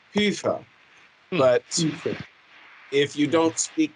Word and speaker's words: Hoefer: me that question but my real last name is hofer it's a german last name and in reality it's not even hofer it's pufa but if you don't